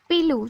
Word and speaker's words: पीलू: तमिल में एक शब्द पीलू, जो मेसोपोटामिया के लोग पीरू बोलते थे, क्योंकि वहाँ ल शब्द का उच्चारण नहीं होता। ल की जगह वे र का उच्चारण करते हैं।